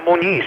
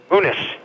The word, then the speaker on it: Muniz: Not Muniz, he pronounces it Muniz.